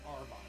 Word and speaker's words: Auerbach: Lenny Wilkens is a really good ball player, great coach, and just for the record, it's Red Auerbach.